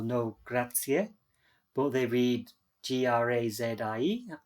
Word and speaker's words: grazie: how they say each letter how they really pronounce the word many many uh many english people know grazia but they read g-r-a-z-i-e grazie oh i know okay kratz in italian thank